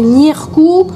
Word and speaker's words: Ǧírkù: On prononce Nieu, le G, hein, le G avec un circonflexe à l'envers, c'est Nirku.